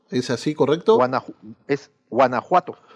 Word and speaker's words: Guanajuato: Muchas gracias, porque sé que cambia, por ejemplo, es Oaxaca, ese ya lo tengo incorporado, Veracruz, Chiapas, Tabasco, Guanajuato, ¿es así, correcto? Es Guanajuato. Guanajuato, bueno, perfecto.